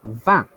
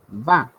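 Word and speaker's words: vingt: for number 20 so 20 is pronounced as van so you guys are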